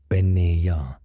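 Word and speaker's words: Bean Nighe: The Bean Nish, pronounced roughly Ben-Neya, means woman of washing.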